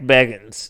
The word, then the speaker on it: Bagans: ] Zak Bagans uh is it Baggins or bagging Baggins Biggins like like the dog treats the way he says it is Zach Baggins that is the way he pronounces it he doesn't know anything